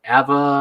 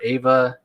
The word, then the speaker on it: Ava: their name i always get it i always mispronounce it ava or eva duvernay the the writer yeah ava she's uh doing the the fourth world movie